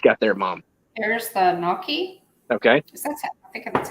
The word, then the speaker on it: gnocchi: Tina says the G is silent. I'm going to go ahead. So way out there. Boom. Hughes slime pods. Is it gnocchi or gnocchi?